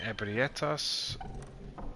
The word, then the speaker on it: Ebrietas: Is it Ebrietas? Ebritas? I say Ebritas. I just prefer the sound of Ebritas. It's easier to roll off the tongue.